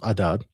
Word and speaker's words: Adad: It's Akkadian is pronounced Adad, and the Sumerian version from Chaldea is Iskor.